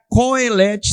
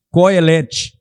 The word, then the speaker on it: Kohelet: Pode estar Kohelet, sem acento agudo, com K, K-O, tá? Porque não tem uma transição exata. Já vi com a letra K-O-E-L-E-T, Kohelet. E já vi pastores pronunciando Kohelet. Está certo, está errado? Não, os dois estão certos.